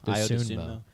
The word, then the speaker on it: Dosunmu: Dosunmu.